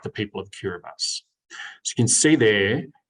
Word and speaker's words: Kiribati: It's spelled Kiribati, but you say Kiribati.